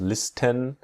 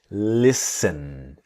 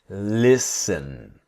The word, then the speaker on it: listen: in the word listen the t is silent so we don't we do not pronounce listen but listen listen to listen to me